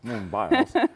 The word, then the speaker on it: Simone Biles: Simone Biles. How do you say it? Simone Biles? Yes, Simone Biles.